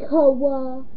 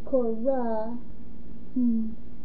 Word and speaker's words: Cora: This girl cannot pronounce her R's. She says, okay, so first time before, she's like, get off me, Koa. No, it's Cora.